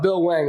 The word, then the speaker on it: Bill Hwang: if you look up bill wang which i haven't pulled up on my screen that there's an h as well the h is silent yeah yeah the h